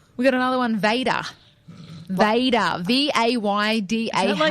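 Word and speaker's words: Vaydah: Vader. V-A-Y-D-A-H. Is that like Darth Vader? Vader? Well, it's spelt differently. This is V-A-Y-D-A-H, so it's Vader.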